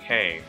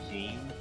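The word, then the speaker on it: Keine: Anyway, here is Kane Kamishirasawa. I think that's how you pronounce her name, because the wiki tells me it's Kane when I thought it was like Keen.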